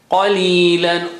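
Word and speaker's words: قليلا: Qalilan. Qa is high sounding.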